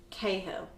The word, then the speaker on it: Cahill: actually carol you're right that's how she pronounces her name cahill yeah i'm like you